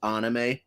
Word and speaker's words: anime: of a fraud because I always say anime, and you always remind me that it's pronounced anime.